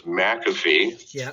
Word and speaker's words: McAfee: wanted to clear up is your name pronounced mac affy or mcafee you know where's the emphasis placed you know well my parents told me it was mcafee but i mean they